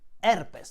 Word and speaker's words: herpes: In Italian, we call it herpes, because in Italian, whenever we see a letter H, we tend not to pronounce it.